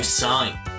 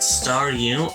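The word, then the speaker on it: Staryu: But back when I was a kid, and Starmie was still just a Star U, I could never pronounce its name right. It always ended up sounding like Saw You.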